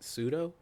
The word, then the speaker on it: Pseudo: but is you and once again I'll probably mispronounce it, but Pseudo. Yeah, that's pronounced correctly.